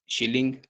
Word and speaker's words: shilling: Currency इनकी शिलिंग है, SHILLING, शिलिंग Somalia की करेंसी है।